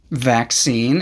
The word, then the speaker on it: vaccine: Vaccine is a two-syllable word pronounced V sound, V, short A sound, A, K sound, K, S sound, S, long E sound, E, and a final N sound, N. Vaccine.